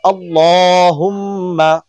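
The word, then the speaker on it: اللهم: উচ্চারণ করার চেষ্টা করুন আল্লাহুম্মা আল্লাহ এটা মোটা করতে হবে আল্লাহুম্মা সাল্লি আলা আলা এটা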